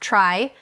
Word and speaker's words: trie: The data structure is a trie pronounced trie a tree where each edge is one letter.